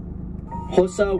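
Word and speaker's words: Xhosa: Hosa with a click, that's how you pronounce an X. Swazi, Tsonga, Swan. That's how you pronounce the X, the Don't laugh because you're making me laugh.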